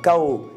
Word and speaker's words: chaos: camion rendent malade alors ko qui s'écrit avec C H a o s c'est une très c'est